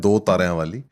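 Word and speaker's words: Dutaranwali: उसकी प्रोनाउंसिएशन है 2 तारियां वाली, लेकिन अगर आप उसको ऐसे देखते हो तो दुतरां वाली है।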